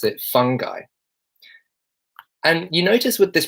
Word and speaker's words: fungi: and I pronounce it fungi and you notice with this pronunciation fungi I don't actually pronounce the N heavily fungi I'm not saying fun guy saying fungi fungi hello